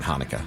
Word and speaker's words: Hanukkah: We're also into Hanukkah, but the C is silent in Hanukkah. It's spelled Chanukah, but it's actually pronounced Hanukkah.